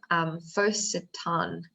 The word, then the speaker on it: Photosan: So Photosan, Photosan, is that how you say it? Yes.